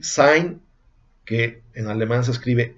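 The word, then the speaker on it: Dasein: eso significa allí y sainz que en alemán se escribe s&n pero el diputado y se pronuncia como hay como en einstein con esas dos e y se pronuncian como hay einstein pero bueno si tienes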